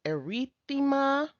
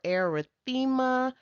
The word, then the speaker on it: erythema: So it's erythema or erythema. You know what? They're both correct.